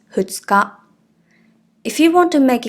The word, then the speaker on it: 二日: But after two, the reading is the same. So “two days” and “the second date of the month” are both read as ふつか.